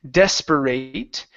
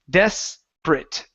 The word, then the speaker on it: desperate: This word here, the ate at the end of the word, instead of saying desperate, this is desperate. Desperate. Desperate. One more time. Desperate for some water. Desperate for some water. Okay. Desperate for some water. Oh, almost. Go back to a short I sound.